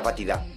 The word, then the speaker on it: batida: Pásame la nata batida. ¿Qué has dicho? No hay tarta sin nata batida. ¿Batida? Batida, sí. ¿Dirás batida? Sí, batida. Lo pronuncias mal, ¿por qué lo dices como si fuera con V?